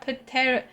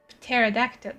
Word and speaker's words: pterodactyl: Why can't you hear a pateractyl? Pterodactyl. Pterodactyl. Is that how you spell pterodactyl? Do number one cuz the P is silent.